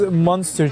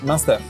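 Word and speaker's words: Muenster: What is monster cheese? Oh, okay. So How do you pronounce it? Munster.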